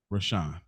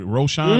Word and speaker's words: Roshan: And no more perfect person that came to my mind when I looked through, I really looked, than Leela Rashawn. I think Roshan is how you say it.